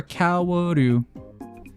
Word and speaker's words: Kaworu: Kaoru? Okay. I've been wanting to watch Eva. Like rewatch Eva. Kaworu. Wait, Kaoru or Kaworu?